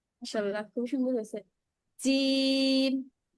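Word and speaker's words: جيم: জিম জিম আপুর উচ্চারণটা ঝায়ের মতো চলে আসতেছে, ঝায়ের মতো। এই এটা ঝায়ের মতো ব্যবহার হয়, জিমের মধ্যে না, একটু শক্ত হবে।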